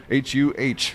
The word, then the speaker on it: Huh: How do you say that? Huh or Hugh? H-U-H. It's John Huh.